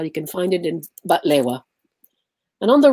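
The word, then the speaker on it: بقلاوة: And this is a famous baklava, pronounced batlewa, that is made in Lebanon.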